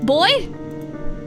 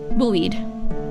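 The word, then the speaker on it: buoyed: a long time boy boy buoy can I hear how it's pronounced is it Bo or boed bued booed boo booed boo weed okay thank you thank you cuz I thought cuz you know how singular you can pronounce it as boy so like with the Ed at I was like really confused booed okay okay thank you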